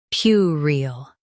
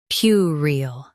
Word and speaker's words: puerile: Both US and UK have the same pronunciation of this word, PUERILE. Now read the syllables shown on the screen naturally. PUERILE, PUERILE. Stress PYU and keep rile light and quick.